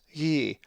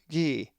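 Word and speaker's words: γῆ: A Greek word that has the lowercase eta is ye, which means earth, and is number 1093. The accent is over the eta, so it is pronounced ye, with the soft gamma, ye.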